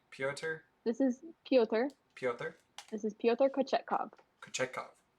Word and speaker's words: Pyotr: Pyotr? This is Pyotr Kochetkov. Kochetkov. The pronunciation says Piotr Kochetkov.